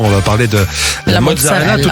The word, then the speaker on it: mozzarella: Déjà, est-ce qu'on prononce ? C'est ? Mozzarella.